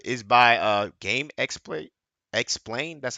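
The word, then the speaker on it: GameXplain: Hey, also subscribe to this guy like is by uh game explain.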